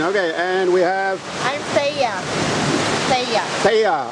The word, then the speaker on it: Thea: I'm Thea. Thea. How do you spell your name? How do you spell it? Spell? Yeah. T-H-E-A. Oh, Thea or Thea.